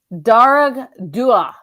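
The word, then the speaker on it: Dearg Due: Darag Dua. Ooh, I like that. It has a pronunciation.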